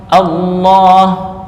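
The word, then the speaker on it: الله: A Allah bukan Allah. Nah, gimana bacanya? Allah. Allah. Bukan o tapi a. Allah.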